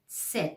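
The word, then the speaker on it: Zett: you should spot /t/ and /s/ together and you have to pronounce /t/ so fast.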